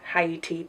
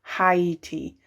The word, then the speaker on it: Tahiti: Marie Carnival 3 Love Tahiti palette looks like. Apparently I cannot read. You will notice throughout the video that I mispronounced the name of this palette. It is Love Tahiti, not Haiti.